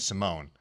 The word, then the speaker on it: Simon: Because in Japanese it's pronounced Simone.